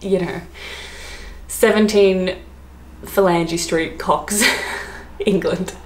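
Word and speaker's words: Cocks: the name hilcox um see that could be pronounced helix or something but anyways it's cox um c-o-c-k-s the way you expect it to be spelt um now this one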